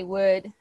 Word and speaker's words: would: in the second word the letter l doesn't sound you notice we just say would would okay now and word